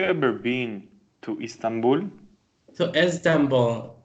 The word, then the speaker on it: Istanbul: been to Istanbul to Istanbul the eye is not pronounced Istanbul okay thank you nervously thank